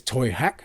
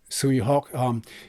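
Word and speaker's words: Tsui Hark: Like I said earlier, I think it's in Cantonese Toy Hack. I think that's how it's pronounced his name. But it's in English is Sui Hawk.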